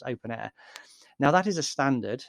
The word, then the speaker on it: openEHR: I say OpenAir, it's written OpenEHR, but it's pronounced OpenAir.